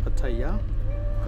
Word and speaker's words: Pattaya: Pattaya, that's how you say it.